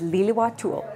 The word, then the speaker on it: Lil'wat: Squamish is Squamish, and Lil'wat is Lil'wat'ul. I may not have it exactly right, but practice makes perfect, something these artists know all too well.